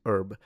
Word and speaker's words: herb: But that H is already gone in American English where most speakers would pronounce it erb.